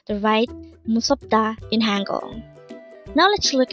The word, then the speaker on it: 무섭다: Again, it's MUSEOPDA. This pronounced as a three-syllable word. The first syllable is mu, second syllable is sop, and third syllable is da. Pronounce it with me. MUSEOPDA.